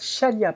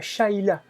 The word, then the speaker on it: Shalia: Alors, Shalia te regarde à dire, ça se prononce Shalia, pas Shaila.